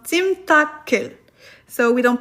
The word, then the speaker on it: 찜닭을: Yes, we don't pronounce the 리을 under here. 찜닭을. Because if we would pronounce it like 찜닭을, it would sound weird. It wouldn't sound natural. So it is still 찜닭을. Even if we have here a vowel after that.